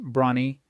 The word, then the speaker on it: Bronnie: Bronny wear pronounced Bronnie spent eight years as